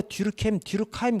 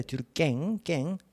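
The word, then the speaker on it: Durkheim: 듀르켐이 영어로 하니까 듀르카임 그렇게 얘기해야지. 프랑스어는 듀르깽입니다. 듀르깽. 그래서 이 깽깽이 앵 발음하는 것이 프랑스어예요. 그래서 이 블랑코 판결 프랑스 판결이라는 거 아시고요.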